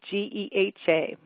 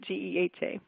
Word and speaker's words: GEHA: but the actual way we are we do pronounce our name is geh a right but I'm sure we'll answer to any of those but we do pronounce it G eh eh all right well Medicare began with two parts